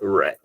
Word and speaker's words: read: The pronunciation of the verb is not read, is read. She hasn't read the book yet.